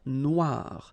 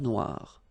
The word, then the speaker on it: Noire: Okay, then here, la mer Noire. Same thing here that we had previously. Final not pronounced, okay? And then OI, remember, wa wa wa, noir, noir. La mer Noire, okay?